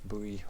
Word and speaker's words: buoy: Buoy or buoy, however you want to pronounce it.